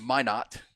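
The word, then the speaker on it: Minot: uh say hey e it's pronounced my not North Dakota thank you very much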